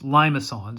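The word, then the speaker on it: limaçon: are what we call limons notice the c has this little tail there so it's limons is how we pronounce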